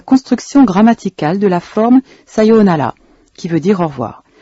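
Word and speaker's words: さようなら: Faites bien attention à la prononciation des syllabes longues. C'est le cas de sayonara. Cependant, dans la langue contemporaine, vous pourrez aussi entendre sayonara, prononcé sans accentuer la deuxième syllabe.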